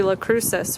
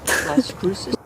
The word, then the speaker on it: Las Cruces: This is technically La Cruces, right? Is that how you pronounce it? Las Cruces.